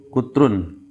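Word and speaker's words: قطر: Itu dibacanya kutron ya, kutrun. Kalau pakai fathah, kotor itu negara Qatar ya.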